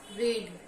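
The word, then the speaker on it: read: अलग-अलग हो जाता है स्पेलिंग सेम रहेगा रीड रेड रेड बोलते हैं स्पेलिंग सेम रहता है लेकिन अगर उसका हम तीसरा फॉर्म बोलेंगे तो उसको रेड बोलना पड़ता है लेकिन स्पेलिंग सेम रहता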